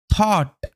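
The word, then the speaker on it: thought: ঘরের মধ্যে, অ্যান্ড এবং, থট ভেবেছিলেন, ও ইউ জিএইচটি অট সাউন্ড দেয়, প্যাটার্ন হিসেবে কাজ করে।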